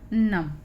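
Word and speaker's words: numb: ये है नम। यू का उच्चारण भी हमने पढ़ा था कि आ होता है, तो इसको हम पढ़ेंगे नम।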